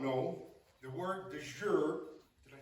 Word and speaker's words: de jure: For those that may not know, the word de jure, did I say that right?